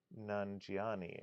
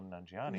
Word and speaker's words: Nanjiani: Rebecca Connor says that's when you realize that everything has Kumal Nanjiani in it. I don't know who Kamal Nanjiani Now is.